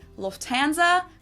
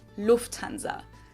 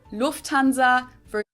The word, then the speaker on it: Lufthansa: In English, people usually say Lufthansa, but in German, we say Lufthansa. So the emphasis is on the first syllable, Lufthansa.